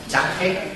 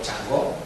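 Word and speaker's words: 嫦娥: Ya han llevado allí 3 misiones, Chang'e o Chang'o, que se llaman las misiones, Chang'e, o si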